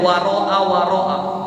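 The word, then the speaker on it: وراء وراء: Dibacanya waroa waroa fathah semua. fihima harakat semuanya.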